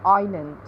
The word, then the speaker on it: island: n in the world and silent s in aisle and island this could be useful